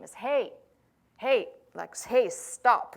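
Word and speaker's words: ה: like that in Hebrew and sounds should sound exactly like hey hey or hey so depending on the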